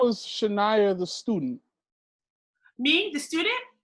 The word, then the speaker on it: Chinyere: So how was Chinyere the student?